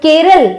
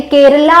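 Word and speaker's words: Kerala: लिखते हैं हम लोग, यानी केरला होता है वो, हम उसको हिंदी में केरल बोलते हैं।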